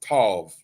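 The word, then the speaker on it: תו: The Hebrew form of the word tau is pronounced tav, which means marking, etching, or scrawl.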